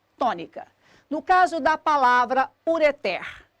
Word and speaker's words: ureter: no caso da palavra ureteres a sílaba tônica da palavra ureter é o pé sempre contando do fim para o começo eu tenho aqui uma